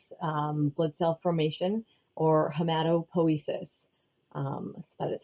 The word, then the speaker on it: hematopoiesis: marrow which is um blood cell formation or hematopoiesis um that is how you say that word